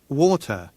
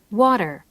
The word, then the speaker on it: water: water, 자, water 마찬가지죠. 모음과 모음 사이에 T를 제대로 살려줘서 발음을 했어요.